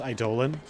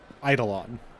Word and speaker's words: Eidolon: being rather enjoyable also every time I hear pronounced I Dolan it hurts me why am i demand because the reason why idling hurts me is because it's supposed to be pronounced eidolon you know it's where we get the word Idol from oh thank you well